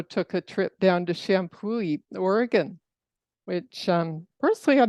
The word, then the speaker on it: Champoeg: it's um a National Historic Park and it's pronounced shampooy and um there it's very close to the